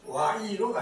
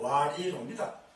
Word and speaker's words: 와이로: 이게 발음은 와이로가 아니고 와리로입니다. 이 자체부터 잘못된 겁니다.